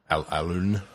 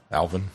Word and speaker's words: Alun: to get something on Alun? Alvin. Alan. It's spelled A-L-U-N, which is, I've never seen Alan spelled that way, but that's Alan, yeah.